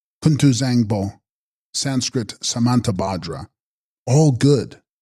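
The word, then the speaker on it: Kun-tu-bzang-po: of the sky and text kunu Bango pronounced kunu Zango Sanskrit samanta badra all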